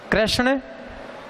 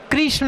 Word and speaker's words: कृष्ण: नाम होता है कृष्ण भी बोलते हैं कृष्ण कृष्ण कि यह गलत यह भी गलत है श्री कृष्ण अ कृष्ण कि कृष्ण ने मैं हमेशा याद रखें इसका उच्चारण शुद्ध करें कृष्ण है इसके बाद है यह